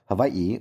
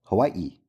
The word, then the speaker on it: Hawaii: The two men debate whether Hawaii is pronounced havi or Hawaii.